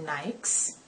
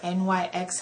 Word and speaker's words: Nyx: about is louisiana from nikes nikes or nyx however you want to pronounce it um nikes is actually the name of a goddess and um that's what inspired the name for the brand but if you call it nyx that's fine i just call it